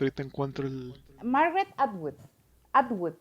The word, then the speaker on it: Atwood: Atwood es lo que nunca sé decir, porque a veces le digo Antwood y a veces le digo Artwood y no lo quería decir mal. Margaret Atwood.